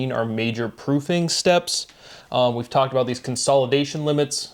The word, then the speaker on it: oui: far from Quebec, but people will slur it and say way. O-U-I as way. And it's just a little thing, but again, you can hear phonetically the pronunciation going from we to way, and it's that E to A.